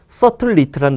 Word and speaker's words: subtlety: 자, subtlety라는 단어가 어째 서브 묵음이야.